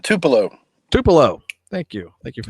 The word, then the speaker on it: Tupelo: Tupelo. Thank you. Thank you for the pronunciation.